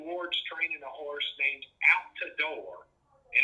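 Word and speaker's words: Outadore: training a horse named out to door and it's pronounced out the door okay and uh he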